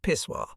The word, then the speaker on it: pissoir: Most of the women seemed to pay no attention to the open-air contrivances, which bore the none-too-elegant name of pissoir, pronounced pissoir.